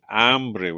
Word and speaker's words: hambre: So hambre, here's your vowel pronunciation. Hambre with an a is hunger. Hombre with an o is a man, right?